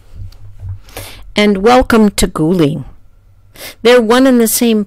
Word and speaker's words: Guling: kouang and welcome to guling they're one in the same place guling is the town's name in Mandarin and kouang is how